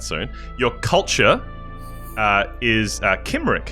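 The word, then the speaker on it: Cymric: your culture uh is Kim which is spelled with a c c y m r i c Kim now the Kim people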